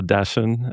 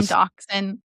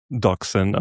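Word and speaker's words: dachshund: A dashen. Am I saying it right? Dash. Yeah. Dash and Dachshun. Dachshun. Okay.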